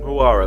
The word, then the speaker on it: Huayra: Huayra. Dream Killer, the Huayra. Huayra, that's it. Yeah. In terms of like lines, it's similar. No, I would say the Huayra is like more straights and that.